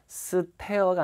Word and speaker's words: stare: 자, 그리고 발음은 제가 이 S 다음에 T는 된 소리라 그랬잖아요. stare가 아니라 stare. 그죠?